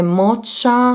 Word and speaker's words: Mocha: e questo nella colorazione Mocha Me Happy 060. E pensavo al fatto Mocha Me Happy non ha senso, perché si pronuncia Mocha, Mocha Me Happy.